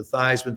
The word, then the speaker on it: Theismann: We think by just simply changing the pronunciation of your last name from theman to thyman to rhyme with thyman, we can guarantee you that trophy.